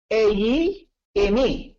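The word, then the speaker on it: εἰμί: Ang ginamit po ng Koine Greek ay, ang pagkakapronounce po niya ay eyi, emi. Eyi, emi.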